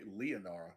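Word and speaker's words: Leanara: oh there's my notebook how is it pronounced linara lanera lanara I don't know yeah I wrote it down too leonara l-e-a-n-a-r-a sure okay leonara gotcha you must have spelled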